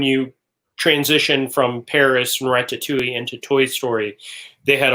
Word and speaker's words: ratatouille: When I was out there earlier this year, they had the walls, when you transition from Paris and Ratatouille into Toy Story, they had a wall built